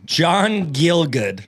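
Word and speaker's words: John Gielgud: guy's name is gonna be fun go ahead John gilgood I saw it earlier is that right yeah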